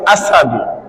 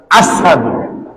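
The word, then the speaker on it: أشهد: আঙ্গা ঢুকাইয়া জিহ্বারে জ্বালা নিছে যার কারণে তাই উচ্চারণ করতে আইতো আশহাদু কিতা আইতো সিংহে ভালা করে উচ্চারণ করতা না হইতা আসসাহাদু জিহ্বার কয় আশহাদু কিতা না হইতা আশহাদু জিহ্বার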